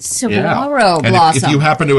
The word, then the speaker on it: Saguaro: it up oh yeah the g is silent Saro Blossom if you happen